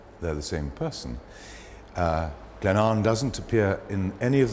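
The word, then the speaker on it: Glenavon: for the sale it's called called Glenn an Glenn aan but pronounced Glenn an The River an joins the river spay at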